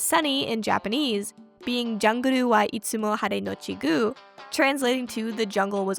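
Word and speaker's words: Hare+Guu: Haru was another young mimi blockbuster discovery. From what I understand, despite the plus sign in the middle, similar to Hunter Hunter, Hargu is pronounced haru, not had plus goo.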